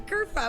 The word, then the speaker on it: Kerfuffle: I'm Kerfuffle. Kerfuffle. Spelled like it sounds with a double for the fuff.